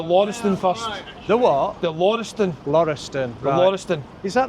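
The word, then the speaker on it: Laurieston: How do you pronounce that? The Lorston. The Loriston.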